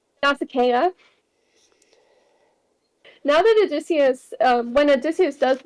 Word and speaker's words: Nausicaa: now that I know how to pronounce that, because I've been saying Nausicaa this entire time. Same. Nausicaa.